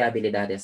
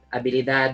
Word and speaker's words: habilidad: Skill set, habilidad. So, kung kanina na talakay natin, habilidad. O pwede din, kung gusto yung mas mahaba, conjunto de habilidades. So, di natin pinapronounce yung H dahil muted siya in Spanish.